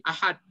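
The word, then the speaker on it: أحد: Oh ini dibaca bukan ini dibaca bukan ihda ini tadi ahad.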